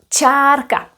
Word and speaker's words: čárka: And then we have this line that's called charka, a line.